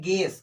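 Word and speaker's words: guess: तो ये क्या लिखा है, गेस, क्या लिखा है, गेस। इस यू को नहीं पढ़ेंगे, जी में ई लगा तो गे बन गया, वैसा यू को साइलेंट कर दिए, हम लोग नहीं बोल रहे हैं, ठीक है।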